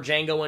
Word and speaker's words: Django: The D is silent.